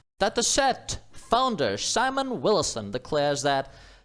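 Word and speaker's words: Datasette: that is data set how does one pronounce this it sounds French dat set founder Simon Wilson declares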